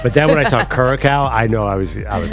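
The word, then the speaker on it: Curaçao: Caraco. That'd be Curacao.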